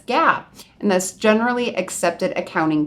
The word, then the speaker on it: GAAP: just the word gaap which people pronounce as Gap and that's generally accepted